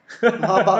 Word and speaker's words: Maybach: Maybach kau. Mungkin ada orang tersilap sebut Maybank pun ada ni.